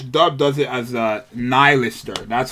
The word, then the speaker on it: Nihilister: to an elister nylister I keep saying millister um because I'm so used to that name now but it's pronounced nylister I don't like that